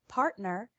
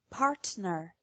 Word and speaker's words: partner: to the difference in the word partner pronounced incorrectly with a normal T sound and correctly with the T as a glottal stop partner partner the letter T